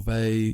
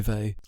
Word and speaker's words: Weil: Well, I think people pronounce Weil in lots of different Weil or Weil, whatever, but I say Weil.